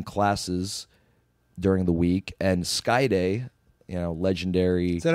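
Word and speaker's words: Skayde: Chicago, were running classes during the week, and Skyday, legendary. Is that how you pronounce it? Skyday, yeah, legendary mat-based wizard of Lucha Libre was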